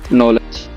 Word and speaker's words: knowledge: Knife, no, knee, not, knowledge.